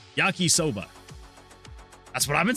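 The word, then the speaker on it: yakisoba: Yaki rhymes with taki, which as in teryakoba is similar to soda. Yaki soba.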